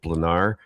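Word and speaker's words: Blanár: Well, well, I I guess um the Czech pronunciation is dependent on where the accent is and I believe it's over the A not the R, so we're going to go with Blanar.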